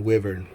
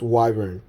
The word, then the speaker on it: wyvern: well i always called it in my mind wyvern i've always said this word wyvern but i checked google before turning this on and it's apparently pronounced wyvern and for the handful of you out there